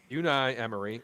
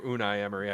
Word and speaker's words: Unai Emery: about this guy uh this is uni Emery or unai Emery I guess it depends on your English however you want to pronounce them right um he had